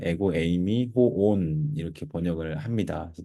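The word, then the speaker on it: ἐγώ εἰμι: 에고 에이미라고 읽습니다.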